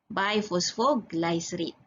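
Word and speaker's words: bisphosphoglycerate: 2 bi, I pronounce bi tapi ejaan BIS biphosphoglycerate.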